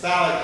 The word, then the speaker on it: phthalic: It's phthalic acid. That's PHTHALIC. It's one of those words with a silent PH in it.